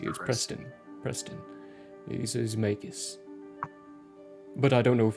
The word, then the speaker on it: Magus: But spelling of Magus is M-A-Y-G-U-S. It's May and Gus put together.